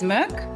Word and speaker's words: MK: It is pronounced uh our director is Swedish, so the actual proper pronunciation is Merc.